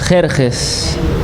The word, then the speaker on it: Jerjes: Es Jerjes. Yeah. In English we say Xerxes. En inglés decimos Xerxes. How do you say it in Spanish? Jerjes.